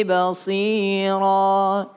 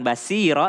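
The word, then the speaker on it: بصيرا: Bukan sa, bukan basiro, tapi basira. Terserah mau gigi geraham kanan atau gigi geraham kiri, terserah. Yang penting bacanya basira.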